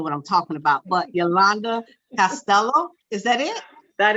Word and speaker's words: Yolande: So people know how to I want to call her Yolande, but it's not a Yolande. It's Yolande. Yeah. It's Yolande.